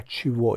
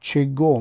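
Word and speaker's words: чего: اسم در این حالت بر سوال های کوا و چیوا یعنی کی و چی جواب می دهد. توجه کنید که کاگا می نویسیم اما کوا تلفظ می کنیم و چگو می نویسیم ولی چیوا تلفظ می کنیم.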